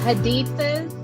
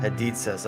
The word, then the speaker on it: Hadithas: Oh yeah, Hadithas. It rhymes with pizzas. Hadithas.